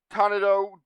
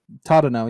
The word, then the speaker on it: Tadano: Tanado, why do I keep mixing up the consonants there?